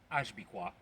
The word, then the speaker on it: HBICWAW: of the country currently being misled by HBICWAW, pronounced Ashbikwa, or head buffoon in charge with autocratic wish.